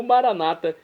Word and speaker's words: maranata: de Jesus, o aramaico, como nós dizemos, católicos com a tônica na última sílaba ou maranata com a tônica na penúltima sílaba, como dizem nossos irmãos das comunidades evangélicas protestantes.